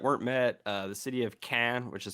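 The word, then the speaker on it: Caen: few goals that weren't met the city of cannes which is spelled c-a-e-n um was not captured which was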